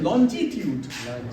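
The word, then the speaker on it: longitude: अच्छा, एक और ज्योग्राफी में पढ़ा होगा, लैटिट्यूड and that is लॉन्जिट्यूड। यस, the right pronunciation लॉन्गी नहीं, लॉन्जिट्यूड, उसी से लॉन्जिविटी है यहाँ।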